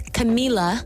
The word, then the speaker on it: Camila: read the second one camilla cabello ha no you said it wrong camila or camilla oh maybe it's wrong i don't know maybe i said that wrong so it's camila camila cabello cabello yes